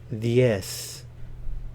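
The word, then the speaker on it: diez: Ocho nueve nueve nueve dies vs yes the Z here is pronounced like an S and the D is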